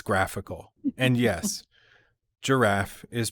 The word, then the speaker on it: graphical: And it's not giraffical, it's graphical.